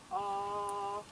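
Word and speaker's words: Awen: It is chanted in 3 syllables. Arwen.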